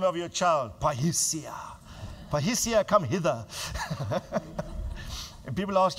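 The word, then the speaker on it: parrhesia: Repeat this after me. Say pahisia. Now say it like it's a confident sounding word. Say pahisia.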